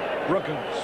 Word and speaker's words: Brookens: Summers, how do you pronounce that? Third base, Brooklyn. Brookens Brookens playing deep at third base.